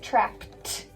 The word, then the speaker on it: trapped: Now remember, ed has three sounds. It can either say d, id, or t. So this one says trapped, but I don't spell that like this with a T.